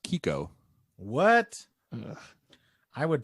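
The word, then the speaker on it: Chicco: pronounced Kiko in Italian but yeah it's Italian Kiko yes I'm hearing you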